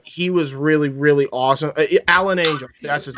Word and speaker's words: Alan Angels: Alan Angels, that's his name. Alan Angels was fucking great. Chris Jericho kept pronouncing it as Alan Angle.